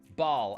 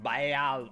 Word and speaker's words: Baal: Ball. Actually, it's not pronounced ball. Somebody came in my comments the other day and said it's actually pronounced Baal.